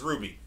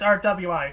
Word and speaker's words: RWBY: pronounces it as Ruby everyone pronounces it as Ruby okay I've heard people pronounce it as rwi so I did I